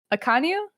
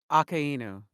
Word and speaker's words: Akainu: I hate this guy, but how do you pronounce his name? Akanu? Akainu.